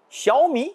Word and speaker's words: Xiaomi: de smartphones en 2021 x en pis se prononce comme ch en français qui signifie petit an chinois me c'est le riz shiomi c'est petit riz autrement